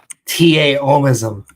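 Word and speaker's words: Taoism: I'm look into that taism yeah in Chinese actually pronounced with a d instead of a t but most people write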